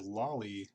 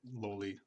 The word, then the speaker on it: loli: Now, for me, like I pronounce it loli because I believe it's like the correct pronunciation because it's just like a shorter version of lolicon.